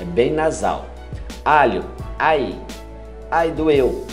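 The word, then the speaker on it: ail: Ai. Ai doeu. É isso mesmo. Alho é ai. A-I-L. Ai.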